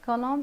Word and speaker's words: column: column mankind the correct answer column and the silent letter E the final n number five psychology sheep